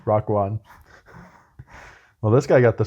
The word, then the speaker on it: Raekwon: Stamp of approval from Wu-Tang Clan member Raekwon. Yeah, that's how it's pronounced. Raekwon.